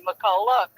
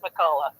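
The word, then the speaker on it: McCulloch: And it was spelled like that chainsaw is, and we usually say Molak, but hers was pronounced Makulla.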